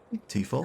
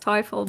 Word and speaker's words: Teufel: Tifel, Okay, what is your other You offer? accept these terms. It's pronounced Teufel, by the way.